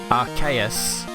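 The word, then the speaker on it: Arceus: you could do I do want to give archaeus a shot that's how you pronounce it because that game does look really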